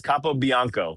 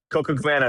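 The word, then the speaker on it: Capobianco: And he said it's Capo Bianco was the official pronunciation. See, so Luds was saying it right. Coco Cabana is also probably acceptable, but he said he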